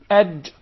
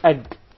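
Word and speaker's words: ج: We already studied the jim, and we said Aj. Muhammad, you especially, I would like you to pronounce the jim once again. Ad. Not ag. Yeah. There is no gim in Arabic. It is Aj.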